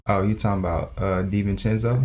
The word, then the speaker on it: DiVincenzo: Obviously, we got I don't even know how to pronounce what can we call him? Da Vinci? Oh, you talking about DiVincenzo? DiVincenzo, yeah.